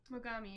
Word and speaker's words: Mogami: even still had like am i saying it right mogami mogami yeah yeah like more gummy not more comedy he did say when